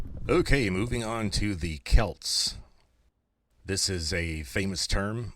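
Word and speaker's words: Celts: And the interesting thing is that we know how the Kelts pronounced their own name because they wrote their own language down phonetically using Greek letters.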